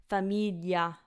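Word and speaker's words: famiglia: just an L but be careful cuz in Italian it's GL so it's Familia Familia so if you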